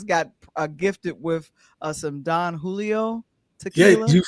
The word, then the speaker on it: Don Julio: gifted with uh some Don Julio tequila. You surely said it right cuz last night you said it wrong. Jay Jay, she was like, "No, Don Hoo."